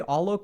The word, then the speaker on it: Alok: Yeah, you can absolutely call me Alok. So if you need help with the pronunciation, it's not all maple, it's all oak.